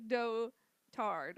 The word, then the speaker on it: dotard: But it's pronounced, like, dotard, which I think is hilarious.